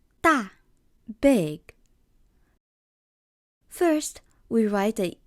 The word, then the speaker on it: 大: So how do we pronounce this character? 大, 大, big.